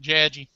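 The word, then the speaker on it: Jagi: Did you say your editor is judgy? Because that seems like a good quality for an editor. Of course, she pronounces it more like Jadgy, because she's from New York, has a charming accent.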